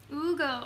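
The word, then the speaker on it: Hugo: Ronka says H is silent. Someone else, H is silent. Okay. Oh, and then someone said Ugo with 2 O's. Ugo. Okay, perfect. That's how I need to think about it in my head. Just all O's, basically.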